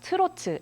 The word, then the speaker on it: 트로트: uh in English but it's pronounced turu in Korean is a genre that